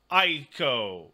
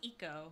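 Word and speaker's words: Ico: at 55 I agree Aiko yes that was Eco it is I said it wrong that is also these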